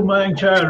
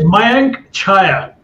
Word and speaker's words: Mayank Chhaya: Seraj, welcome to Mayank Chhaya Reports.